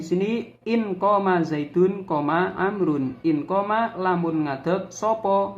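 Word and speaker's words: عمرو: Nah, kalau amr itu menggunakan wawu, itu kalau ada tidak berharokat, berarti kalau ain, mim, ro dan wawu ini bacanya amrun. Kalau tidak ada wawunya itu bacanya umaru.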